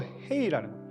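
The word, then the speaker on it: ה: 안 움직임 입술이 안 움직여도 낼 수 있는 발음 헤이 흐 이거는 입술과 입이 최소한으로도 낼 수 있는 발음이 큽니다.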